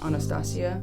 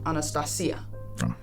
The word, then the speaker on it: Anastasia: She's Greek, so you pronounce it a little bit different. Normally people just call her Anastasia, but Anastasia, which I think is beautiful.